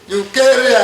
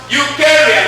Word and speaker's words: Eucharia: Eukarya. That's correct. Clap for him. E-U-C-H-A-R-I-A. Pronounced Eukarya, not Eukarya.